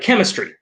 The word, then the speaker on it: chemistry: So this word, in any word that comes from Greek, chances are you're going to pronounce the CH like a K.